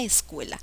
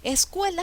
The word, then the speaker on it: escuela: embocar a ver veamos la palabra escuela escuela sé que es una palabra grave y termina en la